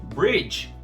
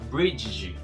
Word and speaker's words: bridge: Bridge, ponte. Não vamos pronunciar o D aqui, tá? Não é bridge, é bridge. Fala tudo de uma vez só.